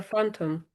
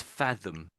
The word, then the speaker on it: fathom: It's like a phantom.